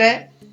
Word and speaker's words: who: WHO से अगर कोई शब्द शुरू हो रहा है WHO से तो उसमें W का उच्चारण नहीं होता है, जैसे हु, WHO हु है, अब यहाँ पर W का उच्चारण नहीं होता है और सीधा HO का उच्चारण हु।